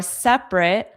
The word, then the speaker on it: separate: separate separate separate but there's also the difference between the verb form and the adjective form because you can say Let's separate.